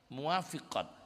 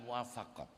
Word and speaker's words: muwafiqat: enggak ada rasa sedih muwafiqat bacanya bukan muafaqat kalau almafaqat itu karya